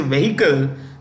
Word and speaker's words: vehicle: to connect all registered commercial vehicles the etching vehicle is silent so while we may say vehicle the correct pronunciation is vehicle which is the